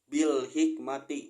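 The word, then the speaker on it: بالحكمة: adalah Alif Lam Qomariah cara membacanya itu alif lam dibaca jelas yaitu bilhikmati juga Lalu ada sebabnya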